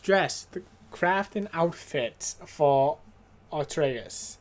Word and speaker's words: Atreus: Craft an outfit for Atreus, which I almost said Odorous, but then I'm like, wait, I played this game. I remember how they say his name.